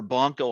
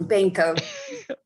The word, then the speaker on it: Banco: I mean, if I ever get Jennifer Bonco on here, Banco. oh, it's Banco? Uh-huh. I've heard it pronounced both ways.